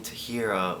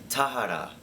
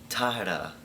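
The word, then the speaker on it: Tahereh: Don't make fun of me if I'm saying her name wrong, because at least I'm not saying Tahira or Tahera like some people. It's like Tahara, Tahera. It's like that, right?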